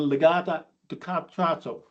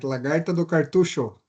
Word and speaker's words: lagarta do cartucho: Fall armyworm is known as Legata ducato. How do I pronounce that, Murillo? Help me out. It was excellent. Lagarta do cartucho.